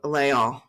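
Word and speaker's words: Les Halles: So I'm going back to Epcot, and I'm going to Layall. Is that how you pronounce it?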